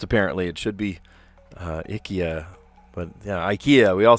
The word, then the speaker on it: IKEA: We pronounce it differently and it's not the way it should be pronounced apparently. It should be uh Ikya, but yeah, IKEA. We all say IKEA.